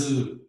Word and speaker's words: œufs: Et puis attention, c'est un mot difficile, des œufs, les œufs, des œufs, mais un œuf, pluriel, des œufs. Donc, la prononciation est différente.